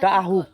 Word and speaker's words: ডাহুক: দি ডুব দিয়ে রইছে ডাউকের শুদ্ধ উচ্চারণ কি মানে শুদ্ধ বাংলা ডাহুক ডাহুক ও এই ডাহুক